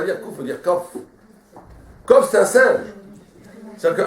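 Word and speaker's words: קוף: Mais en vérité, en hébreu, on ne doit pas dire kouf. Comment on doit dire? Kof. La vraie prononciation, c'est kof, on ne dit pas parce que kof, ça veut dire un singe.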